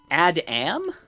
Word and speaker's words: ADAM: Adam. Well, okay. That's how I pronounce it, but it's just Adam.